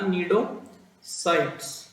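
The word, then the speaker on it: cnidocytes: से ड्राइव हुआ है, derive from the nidoblast or nidocytes, सी इसमें साइलेंट है तो पढ़ना निडोसाइट्स, ठीक है ना।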